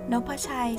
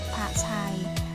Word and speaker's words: นพชัย: อา กาด ยอ ยัก ออก เสียง ได้ 2 แบบ นะ คะ แบบ แรก คือ คำ ว่า นพชัย และ แบบ ที่ สอง คือ นพ ชัย มา จาก คำ สอง คำ มา รวม กัน นะ คะ คือ คำ ว่า โน้ต